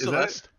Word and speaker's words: Celeste: Is Celeste. Like the pizza.